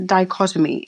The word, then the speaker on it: dichotomy: But it's also I never know how to say this word, but it's a dichotomy.